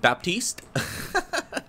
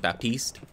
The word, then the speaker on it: Baptiste: can you pronounce Baptiste Baptiste uh Baptist I I would probably I would say it was like Baptist but I guess if you got an ax French hat it'd be like Baptiste I think okay and